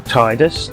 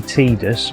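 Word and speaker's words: Tidus: main character um now he's normally called tus or Titus depending on your pronunciation I think it's supposed to be tedious but um because of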